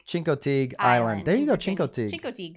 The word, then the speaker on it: Chincoteague: know i i have no idea how to pronounce this uh chinko fatigue chincoteague chincoteague island there you go chincote yeah there we